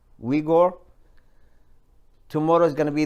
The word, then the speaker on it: Uyghur: Now the Uyghur, that's how you pronounce it, Uyghur.